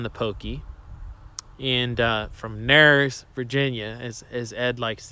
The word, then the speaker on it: Narrows: pokey and uh from nars virginia as as ed likes to say he's probably in his library right now laughing at me and my pronunciation of that but it's not narrows it's nerves uh he grew up